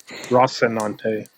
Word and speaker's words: Rocinante: It's Rocinante. Rocinante have been keeping the peace. Wait until you see me try to pronounce some of these new character names.